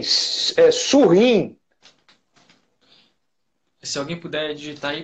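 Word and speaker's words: Surin: Se vocês quiserem pesquisar na internet, o nome é porque a gente pronuncia, eu tenho o mau hábito talvez de pronunciar em francês, o nome dele é S-U-R-I-N, de neném, Surrim.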